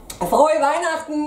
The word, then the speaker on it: Frohe Weihnachten: Frohe Weihnachten!